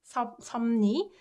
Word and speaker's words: 섭리: This 읍르 gets softens to right? 읍르 to That's why it's pronounced like 섭리.